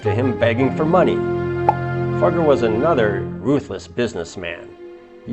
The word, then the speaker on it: Fugger: richest Americans our next guy is European Jacob fugger C I didn't swear his last name is spelled f u g g r fugger okay he was a German Banker the richest